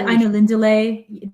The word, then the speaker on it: Ainulindalë: So diacritics, you look at the Ainulindalë, that one is the lay should be emphasized.